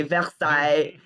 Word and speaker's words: Versailles: called North Versailles which you know we say Versailles yeah that is how it's pronounced which is how you say Versailles in